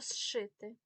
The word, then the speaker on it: зшити: вашу увагу на вимову коли ми кажемо слово зшити ш сюди не входить в перелік тому пишемо зшити але чуємо зшити коли ми кажемо зцілити